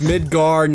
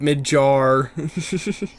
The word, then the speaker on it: Midgard: it's not to fear its Midgard not mid jar bama hut right yeah